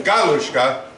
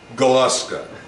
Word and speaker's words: Galuska: She said that the name uh probably in Hungarian would have been Galushka because they emphasize everything on the first syllable, but it's since been Americanized to Galaska.